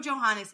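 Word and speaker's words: Johannès: I know Johannes is how you say the last name.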